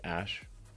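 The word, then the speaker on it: Æ: letter X and then the AE is like pronounced ash his hair is perfect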